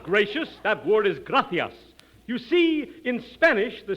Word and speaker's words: gracias: simple spanish phrase read it please okay mooches gracious amigo no no no not gracious that word is gracias you see in spanish the sea is pronounced